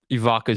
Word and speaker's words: Ivica: Man, shout out to Vicha Zubac. Honestly, I didn't know how to say his first name. It's either. Ivica. I've always just called It- him Zubac. Yeah, it's a Vicha Zubac.